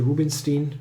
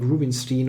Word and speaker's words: Rubinstein: variation this is super-weird often if you have a name that you could pronounce like German style and then I'm completely in English language mode and then I'm doing those weird things like Rubenstein or something which is crazy and it's called wind